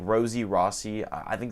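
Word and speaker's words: Rossy: there's rose like rossi r-o-s-s-y it's like rosie rossi i think it's pronounced rossi but there's also sk ross he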